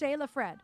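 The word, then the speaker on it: Sjelefred: It's pronounced Shayla Fred.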